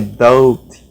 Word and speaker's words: doubt: Aqui também, doubt. Não tem o doubt. Não é. É doubt.